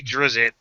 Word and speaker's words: Drizzt: If you're trying to just be Drizzt, or Drizzt, however you want to pronounce it, I'm old school with the ZZIT kind of pronunciation.